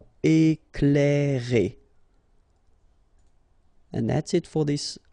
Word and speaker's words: éclairer: Okay, C and L together, you will pronounce this cl, cl. Éclairer.